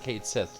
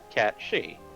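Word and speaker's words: Cait Sith: yes catchy lovely and if you're wondering why we're pronouncing that that way it's an actual celtic term for one of the fae yeah before i knew that i used to pronounce it kate sith like everyone else same here and then i found out about it and it's like oh it's supposed to be catchy and now we're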